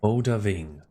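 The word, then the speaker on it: Odahviing: Odaving. So that's how the name is pronounced.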